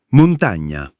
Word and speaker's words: montagna: Montagna. Mh. Montagna con la G dolce.